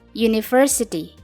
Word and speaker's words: university: Coba perhatikan huruf yang digarisbawahi pada kata university. Walaupun kelihatannya huruf tersebut adalah huruf vokal yaitu U, tapi dibacanya y atau y, university.